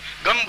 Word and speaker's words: गं: अब देखिए मैं म बोला है, गंग नहीं बोला है, गंग नहीं बोलना है, गम बोलना है, मतलब मैं उच्चारण को